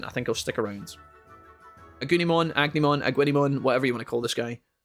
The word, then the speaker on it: Agunimon: Yeah, I think it's pronounced Agunimon, yeah.